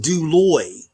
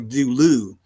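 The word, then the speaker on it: δούλου: If I look at the word duloy, I notice that I'm sorry, dulu.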